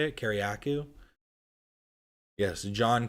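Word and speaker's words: Kiriakou: I always say his name wrong. Kariakou, I think is how you say it. Kariakou. Yes, John Kariakou.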